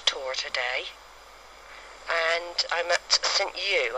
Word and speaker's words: St Ewe: today and I'm at St U I don't know if you pronounce it like that but it's um ewe um I found I